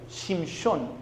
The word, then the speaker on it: Shimshon: ¿Sabe cómo se dice Samsón en hebreo? Shimshon, que significa sol pequeño.